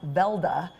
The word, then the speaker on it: Weldy: Johnny Johnson well d actually pronounced Velda in Norway came from Norway with